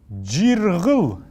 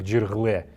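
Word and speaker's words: җирһл: Вот здесь есть тоже неясный звук. Мы же не можем произнести это как джиргле. Это все равно, что мы будем на русском говорить столе, стуле. То есть это будет очень неправильно и некрасиво.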